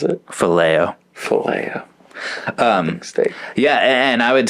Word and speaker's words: phileo: How do you pronounce it? Phileo.